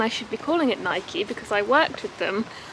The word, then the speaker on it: Nike: I know it's Nike, but I don't know. I don't feel like I hear many people say Nike in the UK, but it definitely is Nike.